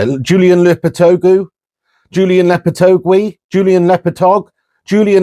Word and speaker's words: Lopetegui: To 9th position, and I think West Ham, Julian Lopetegui. No, that's not how you say it. Julian Lopetegui.